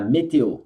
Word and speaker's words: météo: La météo. Tem dois acentos, então é météo. La météo. E aqui pronuncia o O.